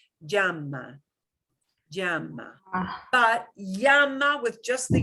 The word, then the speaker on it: llama: So you will hear a little teeny tiny j with a y sound. Llama. Llama. Ah, But llama with just the y is perfectly okay.